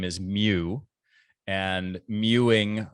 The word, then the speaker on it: mewing: name is mew and mewing rhymes with chewing and i i mean